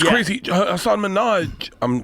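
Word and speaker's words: Hasan: the guy, but like I think there's an emphasis on the first part. It's Hassan. Oh, Hassan.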